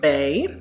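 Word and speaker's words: baie: But yes, this is pronounced bay and it means berry in French.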